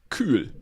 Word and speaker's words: Kühl: sponsored by someone who I, as a German, would pronounce Kühl, because there's obviously an umlaut. It's probably Kuhl. And if you put dots above the U in German, you get Ü. The normal German pronunciation of U is U. And if you put dots above it, it's Ü.